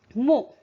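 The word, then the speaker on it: mot: So, mo. See, T is not pronounced.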